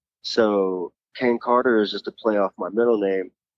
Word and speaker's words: Carter: Yeah, still spelled because they couldn't pronounce it. It's still Carter, but they just said Kata.